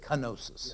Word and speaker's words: kenosis: This doesn't have a G in it. It has a K, kenosis.